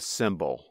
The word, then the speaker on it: symbol: Two words that make exactly the same sound in English are called homophones.